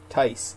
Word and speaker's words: Tice: So I guess it is kind of like Tice said, it's very much like a family. It's kind of like people just enjoy hearing the updates. How do you say last name? Tice. T-I-C-E, Tice.